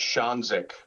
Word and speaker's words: Ksionzyk: It's pronounced Ksionzyk. Ksionzyk. Okay, well, Coach, thank you so much. I tell people it's pronounced exactly how it's spelled.